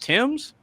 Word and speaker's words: Thames: I'm like, "Oh, it's pronounced I'm like that's pronounced Tims."